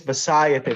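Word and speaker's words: bhāsayate: Yeah, because it doesn't have a long A on that second syllable.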